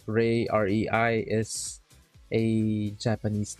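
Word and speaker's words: Leeseo: yeah i am aware the proper pronunciation is isa sort of like a slightly slurred slightly silent l how did i learn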